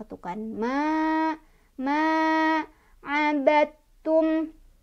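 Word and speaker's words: عبدتم: Ini ketemu sama hukum idgham mutajanisen. Sebabnya karena ada dal sukun bertemu dengan huruf ta, ya. Cara bacanya adalah qalqalah di huruf dal sudah tidak dibaca lagi ya. Jadi enggak baca lagi abadtum, salah.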